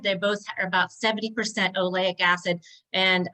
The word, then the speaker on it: oleic: They both are about 70% oleic acid, and it's pronounced oleic, but it's O-L-E-I-C, I believe.